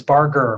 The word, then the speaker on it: Barger: It is Barger with hard G.